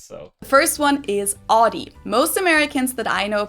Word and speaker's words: Audi: So the first one is Audi. Most Americans that I know pronounce it like I just said it, Audi. In German, we say Audi.